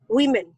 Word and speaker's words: women: have to overcome correct so pronunciation not woman many many woman we women women yes one woman many women different yes not move man but we men so can you answer